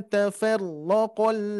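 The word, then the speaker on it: تَفَرَّقَ: Wa ma tafarraqal ladzi. Nah, bisa dibedakan ya. Tafarraqa. Nah, itu ya. Ditingkatkan lagi untuk pengucapan huruf ro-nya. Jadi tidak terlalu banyak getaran. Terus yang kedua, di huruf ma-nya barusan kepanjangan, hati-hati.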